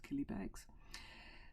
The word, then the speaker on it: Killybegs: Rhymes with Millie Fegs. Very good, it's Killybegs.